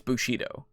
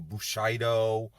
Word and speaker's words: Bushido: didn't catch it but he says Bushido instead of Bushido like it's Bushido come on gabbe if you're a master of this stuff you should know how to pronounce Bushido it's it's a word